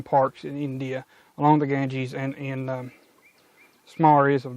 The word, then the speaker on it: Ganges: and physiology um the gangs gharial or the indian garil i don't know why i'm saying gangs i think it's got ganges carry on i mispronounced that the entire time i'm sorry uh anyway